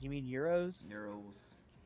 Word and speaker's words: gyros: He goes, yeah, let's go get some gyros. I'm like, you mean euros? Euros. It's like, yeah, It's yeah. either Euros or Gyros. Gyros. Yeah, I think the proper Greek pronunciation is euros.